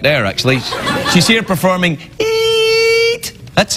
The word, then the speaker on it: Eet: She's here performing Eat. That's how you pronounce it.